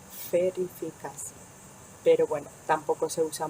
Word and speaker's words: verifikasi: Verifikasi. Bien, la letra V sería como en algunos países la pronuncian de fe, más como una F, fe, que de B. Verifikasi.